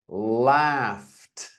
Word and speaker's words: laughed: laughed. I know it's a gh, but it is pronounced f.